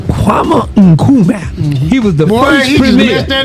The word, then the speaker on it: Kwame Nkrumah: And you say the name right, because you can pronounce it. Say it again for me. Kwame Nkrumah. Kwame Nkrumah.